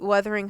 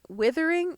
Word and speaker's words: Wuthering: say, this is what Wuthering Heights is going to try to do.